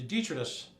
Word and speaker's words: detritus: nice because I like refugees, a cast-off, the detritus, proper pronunciation, of your Economic Development Corporation.